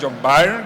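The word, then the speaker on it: John Byrne: Y por supuesto, pues cómics clásicos de de John Birne o John Barn, como se pronuncia a día de hoy, y la, por supuesto,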